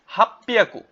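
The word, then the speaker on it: 八百: রোপ্পিয়াকু অর্থ 600, নানা হিয়াকু অর্থ 700, হাপ্পিয়াকু, হাপ্পিয়াকু অর্থ কি? 800। এখানে ছোট সু আছে, তাই এটা উচ্চারণ হবে না, এটা এক্সেপশনাল, মনে রাখবেন।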